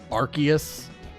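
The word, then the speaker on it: Arceus: Archus versus Arus. I do believe the official pronunciation is Archus. I will still I will still say Arus until the day I die.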